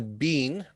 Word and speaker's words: been: been here and then the bean will be pronounced as the bin as in the rubbish bin or some bin laden okay that bin sound it's not like mr bean okay and uh a